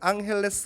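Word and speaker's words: Ángeles: 로스엔젤레스 로스 앤젤레스 포토 스페인식 이름입니다 스페인 식으로 발음하면 앙헬레스 라고 있는데 엔저 쌩얼 하면 제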